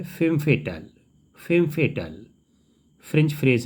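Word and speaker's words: femme fatale: FEMMEFATALE, इसको pronunciate किया जाता है फेम फेटल।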